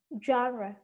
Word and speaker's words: genre: One thing about the pronunciation. Genre.